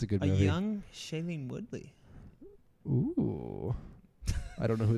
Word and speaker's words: Shailene Woodley: Shailene Woodley.